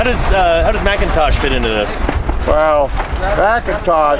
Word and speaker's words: McIntosh: How'd you pronounce McIntosh. it? McIntosh.